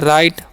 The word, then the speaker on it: right: Next word हमारा क्या है, RIGHT, तो इसे हम पढ़ते हैं राइट। ओके, उसी तरीके से इसे हम पढ़ेंगे हाई। यहाँ पर भी GS साइलेंट होगा।